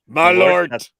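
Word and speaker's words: Malört: Malort. There's a long O over the O.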